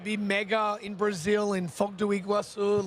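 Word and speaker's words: Foz do Iguaçu: Bob whether it be mega in Brazil in Fogu Iguasu like in in 2013. Fantastic pronunciation by the way that that was really sick.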